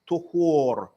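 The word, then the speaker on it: طُهور: Messenger sallallahu alayhi wasallam, tuhur. It is pronounced with a dhamma on the ta.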